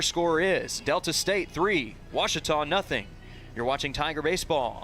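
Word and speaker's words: Ouachita: the second your score is Delta State three washon nothing you're watching Tiger baseball on the watch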